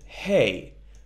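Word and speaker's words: ה: The only difference is in the pronunciation, that is, that Hey is like an Aleph, but with more air coming out of the throat.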